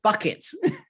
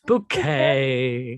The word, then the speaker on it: Bouquet: bouquet no one whose last name can be pronounced in different ways hyacinth buckets it's bouquet okay residents lady of the house speaking uh